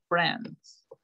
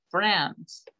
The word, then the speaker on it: friends: New friends. Friends. No digan friends, que escucho a muchas personas decir friends con i. La i no se pronuncia.